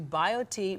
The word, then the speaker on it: BioTE: happier log on to bio T medical calm and bio T is spelled bi OTE so bio t medical